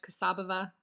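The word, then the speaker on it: Kassabova: of europe by kapka casabova that's anglicized kasabhava would be the bulgarian pronunciation i think kosovo uses a mixture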